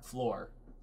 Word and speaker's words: Fleur: Fleur, it's like are you saying like FLUR? I think How do you say it? I think it rhymes with Delacour. So like Fleur Delacour. Floor.